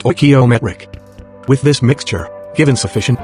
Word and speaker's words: stoichiometric: the scientist calls this chemically correct combination a stoichiometric mixture pronounced stoichiometric with this mixture given sufficient time and turbulence